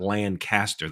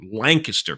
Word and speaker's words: Lancaster: No, I'm saying it right. It's not Lancaster. That's in California. Lancaster, Pennsylvania, although spelled the same.